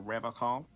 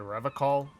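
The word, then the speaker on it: Revachol: to stay strong for Revol he pronounces revon with a hard K unlike other people serious question time this man is no innocent no one is you said Revol I like to pronounce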